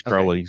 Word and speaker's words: Crowley's: Okay, now is Crowley's the correct pronunciation? I've always called it Crowley's Ridge. No, it's Crowley. It's Crowley's.